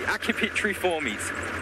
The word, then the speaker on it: Accipitriformes: the rest of the birds of prey, the Accipitriformes, sorry. But they're actually in a completely different order. So they are in the Falconiformes, not the, I can never pronounce this word right, Accipitriformes.